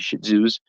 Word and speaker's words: Shih Tzus: I say shitty. I say no, not shitty. Shih Tzus.